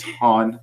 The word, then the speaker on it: Han: Cal is getting really upset at our pronunciation of Han. It's Han, Cal.